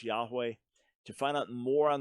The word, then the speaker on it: Yahweh: The more likely pronunciation is Yahweh.